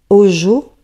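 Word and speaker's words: hózhó: qui est maintenue par ce qu'ils appellent eux au jour qui s'écrit h o Z h o et qui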